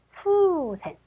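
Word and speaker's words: 風船: 자, 그래서 후센. 우 발음은 거의 들락말락 가시면 돼요. 후센이 됩니다.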